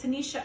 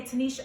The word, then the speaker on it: Tuniscia: she's talking about every interview is done it's Tanisha oh it's very rare that people say Tanisha okay Kay I prefer people not to say